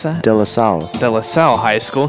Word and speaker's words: De La Salle: Yeah, Khalid Johnson, he was at how do you pronounce that? De La Salle.